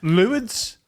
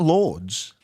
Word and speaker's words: Lourdes: Luids. We call it Yeah. a missionary. It's not Lords.